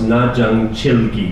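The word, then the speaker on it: 나전칠기: In Korean, it's pronounced najang chilgi.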